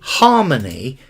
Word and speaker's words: harmony: A harmony, an harmony, and we pronounce the H in harmony.